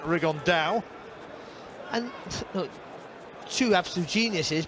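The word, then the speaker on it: Rigondeaux: about fighting rigondo or as he's correctly pronounced with the spanish accent rig on dao and look two absolute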